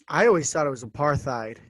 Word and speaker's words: apartheid: tend to go with apartheid so it's a part and then yeah the rest of the world because that's that it's an afrikaans word that's why it's um